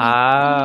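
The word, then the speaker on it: ห้า: five five that we have on everything all right so for example why do you guys use the numbers ah so five uh in thai language we pronounce ha ha so can you guess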